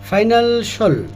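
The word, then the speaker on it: financial: সাধারণত ওই সকল ওয়ার্ডগুলো আমরা সাল উচ্চারণ করে থাকি। আসলে সাল বলে কিছু নেই। এটা হবে সল। যেমন এসেনশিয়াল এসেনশিয়াল পটেনশিয়াল। পটেনশিয়াল না পটেনশিয়াল না পটেনশিয়াল। ক্রুশল ক্রুশল। ফাইনান্সিয়াল হবে না। এটা ফাইনান্সল।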